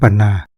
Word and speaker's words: พันนา: ว่า ถลา 12 พันนา ก็ ให้ อ่าน ว่า ถลา 12 ปันนา คือ ออก เสียง พ เป็น ป นะ ครับ อักษร ไทย รื้อ ใหม่